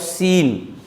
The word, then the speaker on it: scene: For example, SCENE. Just see, C is preceded by S and followed by E over here. Hence, it will give the sound of seen.